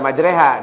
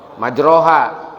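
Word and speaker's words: مَجْرَاهَا: Kalau ada yang baca Bismillahi majreha wa mursaha, kan harusnya bukan dibaca majreha, dibaca non majroha. Nah, Bismillahi majroha wa mursaha.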